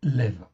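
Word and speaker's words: לב: OK, donc vous pouvez en fin de compte dire lève ou leb comme vous voulez mais en réalité ça se prononce lev.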